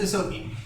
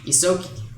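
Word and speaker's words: Ysoki: Yeah, it's Isoki. Isoki. So it's like a light E. It's just Isoki.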